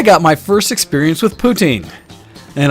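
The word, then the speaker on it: poutine: experience with poutin and I have to say it very specifically like that because when I was drinking last night and saying it wrong I was always saying ptin and that's not at all what it is essentially I don't know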